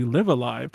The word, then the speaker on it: Live A Live: prior to this oh that's just the japanese pronunciation it's actually live alive there's all sorts of online discussion about what